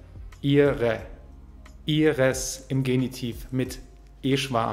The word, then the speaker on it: ihre: Am Ende haben wir ein e-schwa. Ihre.